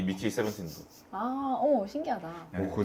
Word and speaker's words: 17: 저는 세븐틴이 맞다고 보거든요. 네, 왜냐하면은 그냥 영어 발음이니까.